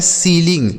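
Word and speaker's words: ceiling: इसे पढ़ा जाता है सीलिंग।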